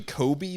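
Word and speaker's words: Cobie: I don't know her name because I think it's actually Kobe, but I always Kobe, think it's it is Colby, Kobe.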